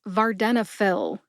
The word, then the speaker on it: vardenafil: in this episode venail also has four syllables VAR like varnish Den like Denmark uh like the short a sound or a schw a sound uh and fill as in pharmacist fill prescriptions for venail put it